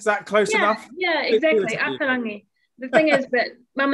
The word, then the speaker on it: Ata Rangi: It's not Ata Rangi. Mackenzie very helpfully just said, think of it as though you're pronouncing it in Italian.